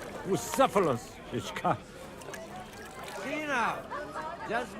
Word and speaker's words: Bucephalus: It's pronounced Bucephalus, Ishka.